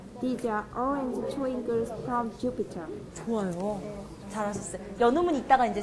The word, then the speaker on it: Jupiter: 자, 제 강세 주에 들어가요. 그러면 어떻게 되냐면 Jupiter. 자, 계속 의식적으로 생각을 하셔야 되는 게 강세가 들어가는 곳에서는 길게 말하는 거. 길게 말하는 거 다들 엄청 잘하세요. 음량을 왔다 갔다 해야 된다는 거. 그러니까 피터보다 주가 소리가 더 커야 돼요.